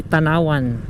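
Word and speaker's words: Tanauan: So left side daw tayo papuntang Tanawan sa Luzon. Ang bigkas niyan eh Tanawan. Tanawan, Batangas. Dito Tanawan daw.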